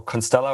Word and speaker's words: Constellar: is it ConstellR or Constellar, or how do you pronounce it? Whatever you like it to be, but it's Constellar. That's at least what we say.